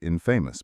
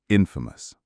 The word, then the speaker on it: infamous: across this word and I naturally pronounced it infamous, but I was corrected. The stress for both words is on the first syllable. Famous. Infamous.